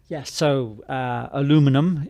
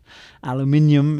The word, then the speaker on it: aluminum: Aluminum is how I now pronounce it. Aluminium is how it used to be pronounced in Britain and still is by people who have not yet encapsulated the spelling that is now uniform, which is aluminum.